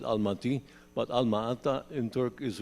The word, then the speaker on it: Almaty: I may have just mispronounced it. Yeah, which now they call it Almaty.